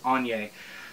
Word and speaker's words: Annye: in Y a they tell you how to pronounce it in the foreword of the book it's on yay I believe it's African I'm not exactly I'm